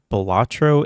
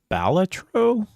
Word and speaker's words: Balatro: Also, I heard people saying it's not Bolatro, it's Balatro.